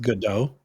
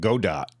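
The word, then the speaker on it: Godot: and and so by the way it is pronounced good do is that how you pronounce the engine that's how I say it yeah good oh I always called it God Dot I I had no idea you're a linguist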